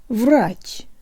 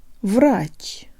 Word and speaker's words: врач: behind the bottom teeth lip surrounded and protruded Rodge Rodge if the Russian air is giving you trouble